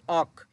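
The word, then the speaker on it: 억: উচ্চারণটা হবে অক। ইউং আছে উপরে, ইউং বাদ যাবে, সাথে আছে অ, আর নিচে গি অক, যেহেতু নিচে বসছে ক হবে অক।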